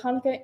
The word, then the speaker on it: Hanukkah: with me chonica actually both Hanukkah and chanukkah are right the holiday's name is in Hebrew so there are different ways to spell it in different ways to say in English Hanukkah chanukkah thanks applesauce Lucy says